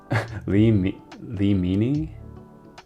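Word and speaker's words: Limine: Am I pronouncing this wrong? Lee Lee Leini.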